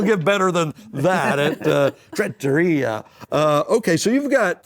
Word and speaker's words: Trattoria: John and Sherri Buchanan, Tavern at Trails End, Tavern Smokehouse, and the new Tavern Italian restaurant, which is pronounced? The Trattoria. Trattoria, there you go.